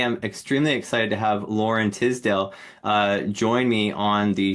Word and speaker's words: Loren Tisdelle: show and today I'm extremely excited to have Lauren Tisdale uh join me on the show and uh I did pronounce that correct right you did Robert yeah